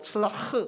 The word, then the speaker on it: 칠라흐: 이게 히브리어로 칠라흐 이렇게 발음이 칠라흐.